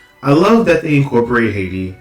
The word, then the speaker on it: Ayiti: way you pronounce it, it's like AYITI, where it's like IET. So it's like not, you know, the H, you don't really stress it. Like they were stressing the H, like Haiti.